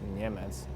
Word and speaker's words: Niemec: It's been pronounced Niemec in our Czech language, but I don't want to force you to try to pronounce it.